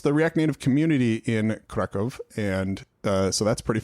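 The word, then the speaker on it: Kraków: I've never been to kraco and they were like that's not how you pronounce it and I was like oh apparently that's a German way to do it is that right catsper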